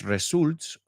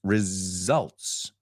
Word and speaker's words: results: Cuidado porque no es results, no es ni una S, it's results. Results.